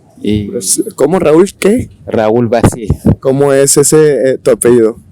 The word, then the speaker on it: Vazie: Raúl Vazi. ¿Cómo es ese tu apellido? Bueno, mi apellido es V corta Z I E. Vazie. Se escribe Vazie, pero suena Vazi, porque es de origen francés.